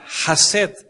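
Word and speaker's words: חסד: misericordia la palabra misericordia en el original se pronuncia hashed que es en el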